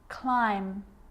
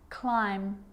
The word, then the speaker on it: climb: follows the letter M climb Krum lamb some gum and plummer so practice them with me I'm not pronouncing the B I'm just pronouncing the M consonant sound climb Krum lamb some dumb